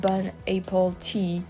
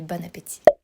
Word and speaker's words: bon appétit: Yeah, I think I've heard this expression bon appétit to know how to pronounce it, and it's actually really good because